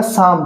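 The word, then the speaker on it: psalm: ऐसे ये पी एस ए एम तो ये क्या हो गया? साम। साम क्या होता है? भजन। यहां पे भी पी साइलेंट है। यहां पे पी भी साइलेंट है और एल भी साइलेंट है।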